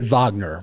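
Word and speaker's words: Wagner: Uh so what led you to and and you say it vagner, right? But people it's spelled with a W. So for people if we you hear Vagner, don't look for a V. Um look for a W when you're doing research here.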